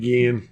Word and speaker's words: Ginn: either again again Ted Ginn does look like Jim sure does this house pronounced Guillen again yeah he need to pronounce his name right like the liquor it's like the liquor